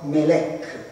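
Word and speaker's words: מלך: angelo si dice Malek, che si scrive MLK, no? E sempre MLK con la lettura però Melek vuol dire anche re, questo vuol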